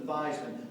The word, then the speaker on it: Theismann: think by just simply changing the pronunciation of your last name from Theismann to Theismann to rhyme with Heisman, we can guarantee you that trophy.